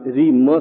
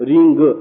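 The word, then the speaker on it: ह्रीं: बोलिए ओ रीम देखि मैंने आप री म शब्द उच्चारण किया है रिंग ऐसा भी बोला जाता है इसलिए रीम बो रीम रीम आगच्छ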